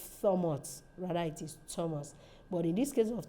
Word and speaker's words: Thomas: certain th words that we sound as like Thomas Thomas is spelled t-h-o-m-a-s but at the point of pronunciation that th is not silent later it becomes a t sound it's not so much rather it is Thomas but in this case of t-h-i-n it is